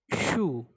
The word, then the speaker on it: chou: Next vegetable is chou. Ch is sh, chou. Ou is u, chou. Like chou, shoe in English.